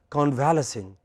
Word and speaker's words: convalescing: or the second language, we pronounce it as convalescing. It is not convalescing.